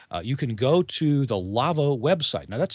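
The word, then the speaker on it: LAWO: or comments we'd like to hear about them lavo lavo is a sponsor of this week in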